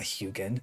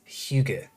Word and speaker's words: Hygge: Or no, it's not Hyugen. It's Hygge. Danish for cozy.